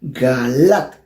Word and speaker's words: Galat: Tiene acento en la A, Galat.